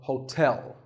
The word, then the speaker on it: hotel: hotel there are two syllables ho and like the english word tell as in tell me the stress is on the second syllable so hotel a related word is